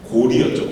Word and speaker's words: 고려: 근데 그때 고려 시대 때는 여라고 읽지 않고 리라고 읽었어요. 고리였죠, 고리.